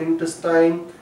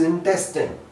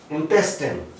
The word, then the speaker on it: intestine: No, this is not intestine, this is intestine। This word is intestine, and here we have got the stress on this part of the word intestine।